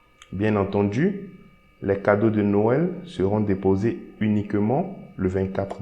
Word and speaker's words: Noël: But let's suppose I want to pronounce O separately and E separately. So I'm going to add a trimmer on E. So by seeing the trimmer, I will know that, okay, here I need to pronounce O separately and E separately. So here I will say no L.